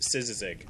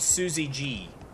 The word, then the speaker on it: szyzyg: You pronounce it szyzyg. And it's not Suzy G, which I got for some reason a lot.